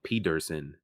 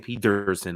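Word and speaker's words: Pederson: But we got a nice coaching matchup, Ryan Dable versus Doug Peterson. And yes, every time I say Peterson, I always emphasize the D because I've never seen a name spelled like that before.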